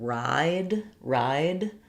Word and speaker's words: ride: But if you think about the sounds of ride, D is the last sound. The E is silent.